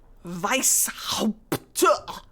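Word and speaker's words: Weisshaupt: It's pronounced Weiss. Weishaupt.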